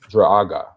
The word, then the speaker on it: Druaga: It's spelled Druaga. Druaga.